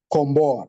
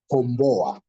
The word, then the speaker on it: komboa: in the word kimbia, this O in the last part here, this O and A, the last O and A here, komboa. This O is being pronounced together with the two consonants, bo. So it comes out as kombo. So they come together as one word, as the syllables with the 3 letters. So it's bo a, komboa. But here is oa, komboa, following each other, which means to save.